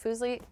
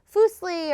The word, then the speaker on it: Fuslie: like foosley is uh nobody can pronounce it so I have to like write on my thing it's like Foos Le f o o z l e e cuz people go like fosle or fle or fili